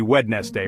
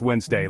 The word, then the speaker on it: Wednesday: like it should be wed Nest day right but nope it's actually pronounced Wednesday like where did the D go it's just gone vanished and then there's knife